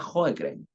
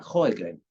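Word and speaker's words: Sjögren: todo esto paréntesis eh Cómo se pronuncia cen se pronuncia jren ya hoegen pero nadie lo pronuncia así así que pronúncialo como quieran pero para que sepan que la pronunciación sueca original es jren y es considerado un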